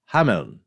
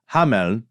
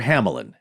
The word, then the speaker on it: Hameln: In German, I'm going to do my best here, is Hameln with a soft N.